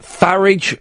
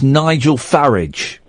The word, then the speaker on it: Farage: Farage rhymes with garage. So it's Nigel Farage.